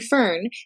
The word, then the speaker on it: Fearn: co dot uk' now her last name I'm saying fern but it's spelled f.e.a.r